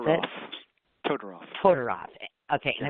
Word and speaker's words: Todoroff: wife is Amy, I can't say it, please pronounce it. Todorov.